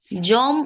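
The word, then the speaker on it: যম: ইয়ামা বা ইয়াম আর বাংলায় যদি আমরা উচ্চারণ করছি তাহলে ওটা জম উচ্চারণ হচ্ছে হুম সেই কারণে এখানে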